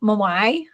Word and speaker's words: Moai: look at these um the mawai that's how you pronounce it the mawai we can